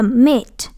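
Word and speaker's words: meat: Nhưng ở đây là mit, mit. Khi mà nó có hai chấm này thì mình đọc cái hơi dài đó một tí xíu, đúng không?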